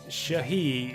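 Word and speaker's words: s/he: Shahi is consistently referred to using this there. That's how that's spelled out when I say Shahi. It's like she/he.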